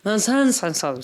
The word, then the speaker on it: Menzies: Tobias Menzies. Am I saying that right? No. It's technically pronounced Menzies. That was Menzies. I think it's Menzies, but Come on.